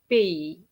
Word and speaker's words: pays: Le meilleur pays. Le meilleur pays. Très bien. And you have to remember that pays has an S. It's just like that. It has an S and it's not pronounced, okay?